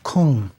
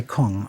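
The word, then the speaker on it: !Kung: in particular the so-called Kung. Now, I'm not really pronouncing that correctly. If you've seen it spelled, it's exclamation point K-U-N-G. The exclamation points stands for a click sound.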